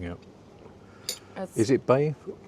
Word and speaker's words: Bae: Is it bay? It's just bay.